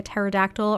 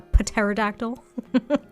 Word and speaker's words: pterodactyl: I think a pterodactyl, or as I like to call it, a pterodactyl, because I like pronouncing the silent P because it makes me laugh.